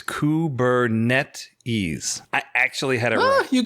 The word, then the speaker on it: Kubernetes: messes this stuff up but it is the official pronunciation apparently is kubernetes i actually had ah